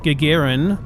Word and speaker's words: Gagarin: learned a lot more it is pronounced Gagarin and also known as